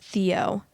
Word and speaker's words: Tayo: And then OOP said she named her other kid Tayo, pronounced Theo.